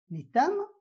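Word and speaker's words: litham: Et comme vous le savez, donc la graphie TH est prononcée T en français, d'où la prononciation de l'itam.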